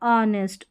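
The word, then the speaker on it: honest: तो यहां पर एच जो है ये साइलेंट है इन सारे स्पेलिंग्स में। किस-किस में? आवर, ऑनेस्ट, ऑनर और एयर में।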